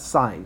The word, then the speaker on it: sine: take this sine now I know it says sin and it's gonna say sin on your calculator but you pronounce that sine so you like the